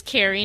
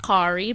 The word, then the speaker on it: Cari: this is Carrie F I think it's Carrie not Ki but it's spelled c a r i but I'm just going to call it Carrie so okay so before